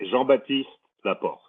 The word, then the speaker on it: Jean-Baptiste Laporte: JB you will be Jean batist laort you have to work on your RS you have to roll your RS we are joined joined